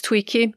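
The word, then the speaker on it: Tuichi: back from Tui and I really hope I pronounced it correctly I I checked it out and they said it's Tweaky the river the Haring life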